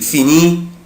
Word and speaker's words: finit: je prononce pas، انا مش بنطق لا لتر اس ولا لتر تي، انا مش بنطق لا الاس ولا تي، يعني اي اس اي اس اي تي مش بنطق.